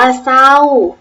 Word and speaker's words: เศร้า: ว่า เศรษฐี ตั้ง เรื่อง สังเกต ดู นะ คะ ทั้ง 5 คำ ที่ พูด เล่น เอา เสียง ไป ครู ออก เสียง เรือ หรือ เปล่า ไม่ ออก เสียง พยัญชนะ เรือ นะ คะ ติด ต่อ มา